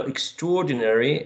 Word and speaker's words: extraordinary: a three syllabus only now extraordinary has only five right extraordinary or not extraordinary